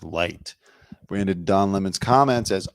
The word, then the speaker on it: Licht: Anyways, Chris Licht, or I think it's pronounced Light, branded Don Lemon's comments as unacceptable during a 9 a.m.